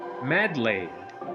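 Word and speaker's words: Medli: How how is her name pronounced? Medley or Meduli. I have I have been calling her Medi but uh I don't know if it is Meduli or Medley Medley or Medi. What are what is the standard pro procedure here? The standard procedure you give me medlay. Oh, way different that what I've been pronouncing her name actually.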